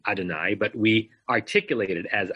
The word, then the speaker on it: Adonai: we get the notion of looking at the letters and pronouncing as Adonai we're all still in